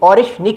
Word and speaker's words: Oreshnik: मैं दोबारा प्रोनाउंस करता हूं। ऑरिशिक नाम है। ओ आर ई एस एच एन आई के ऑरिश निक नाम है इस मिसाइल का।